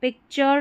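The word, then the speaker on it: picture: तो पिक्चर, नेचर, फर्नीचर, फर फिर नी और चर, फर्नीचर। बड़ी स्पेलिंग्स है तो उसको तोड़ना है, पिक्चर, फिर नेचर, फर्नीचर।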